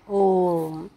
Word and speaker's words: ओम: तो ओ का उच्चारण एक बार यहाँ हो गया और 2 बार इसका उच्चारण और करना है। इसका मतलब ये है कि ओ को हमें टोटल 3 बार पढ़ना है, ओम, तब ये ओम बनता है।